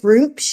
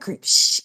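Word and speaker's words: Gruumsh: is true, Button, it sounds like, is it Groomsh? Is that how you say it? Mm-hmm. Groomsh.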